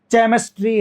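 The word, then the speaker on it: chemistry: कई लोग बोलते हैं मेरे पास फिजिक्स है, मैथ्स है और मेरे पास केमिस्ट्री है।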